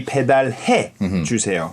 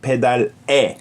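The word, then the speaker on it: 배달해 주세요: pedar It's supposed to to be pedarhe chuseyo. pedarhe Not pedare e but he. But in the end the pronunciation is the same.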